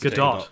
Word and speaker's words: Gadot: gal gadot Goodell gadot I think you actually do pronounced good dog good dog yeah and